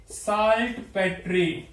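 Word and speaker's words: saltpetre: Pronunciation कुछ भी हो सकती है, प्रोनाउंसिएशन आप अपनी अपनी कर सकते हैं। मैं इसको साल्ट पेट्रे बोलता हूं।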